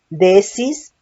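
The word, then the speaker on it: δέησις: De oración, del griego 1162, que es desis, doble E, acento en la primera E.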